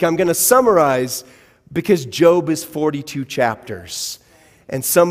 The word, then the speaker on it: Job: known as job now it's spelled the same as job if you're looking for it in your bible but it's job and so i would